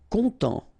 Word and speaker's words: content: Content, final T not pronounced, so E-N, en as well, content, content.